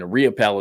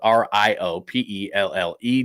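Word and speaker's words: Riopelle: Again, RIOPELL is spelled R-I-O-P-E-L-L-E.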